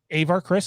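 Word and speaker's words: Avar Kriss: of her name but i believe it's avar chris uh you are correct avar chris is that how it's pronounced yes yes uh so that's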